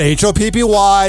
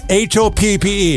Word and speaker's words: Hoppe: No, it's not Hoppy. That's how everybody and AI closed captioning thinks you spell it. Hoppe.